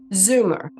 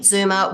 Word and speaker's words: Zoomer: word for you because I have an Australian accent and I live here in America and I don't pronounce it the way that Americans would so that's Zed o m e r Zumer so the wheat Zumer